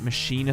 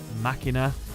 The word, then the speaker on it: Machina: type h fun fact now if you know what minina Fortress Is I've pronounced it Machina Fortress and things like that for a very long time so saying minina is weird but that I believe is the correct way to say it so yeah the reason they